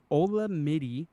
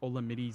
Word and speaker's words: Olamide: Olamide, I think is how you say his first name, Olamide Zaccheaus, whatever, from the Atlanta Falcons gets 8 receptions, 86 yards, 16 points.